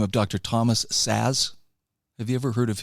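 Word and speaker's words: Szasz: okay it's it it's it's spelled differently s Za szz I mean it's it it's a very different spelling but he was one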